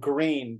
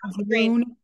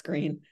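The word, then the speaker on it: Gruene: And that's the town called Green, but you're not supposed to pronounce it the way it's spelled, right? Oh, it's not Grün. Yeah. Grün. Well, I mean, I guess the old Germans would say Grün, yes, but I think colloquially now it's Green.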